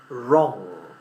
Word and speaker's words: wrong: But the one we don't pronounce at all is the W. So we say wrong.